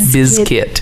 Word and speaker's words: Limp Bizkit: a gimmick you know I like how you pronounce that correctly is biscuit you call them with